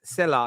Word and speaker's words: Sela: So, Sela, I think it's pronounced. How would you pronounce the word? S-E-L-A? Sela, you pronounce it Sela. correct.